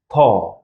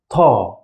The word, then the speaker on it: ط: The first one is also strong, and we pronounce it as Ta. You feel like there is some air going out of your mouth. Ta.